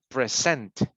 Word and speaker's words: present: Okay, pronunciation is correct, but the intonation is not, because it's not present, it's present. You need to present a topic.